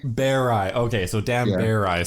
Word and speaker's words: Berei: It's Berei. Berei.